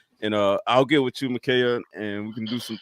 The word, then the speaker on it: Michaela: Michaela.